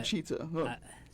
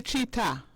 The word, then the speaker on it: cheetah: um to be a cheater to what to be a cheetah not a cheater cheater cheetah yes the